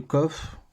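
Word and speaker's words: קוף: savent prononcer ce son sinon le coffre c'est un son cas normal c'est l'équivalent du cas donc c'est le même son que le casque par exemple mais la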